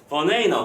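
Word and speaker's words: banana: 이 녀석의 원래 발음은 이 정도? 이 정도가 되겠지 원래 발음은 버네이너 그죠?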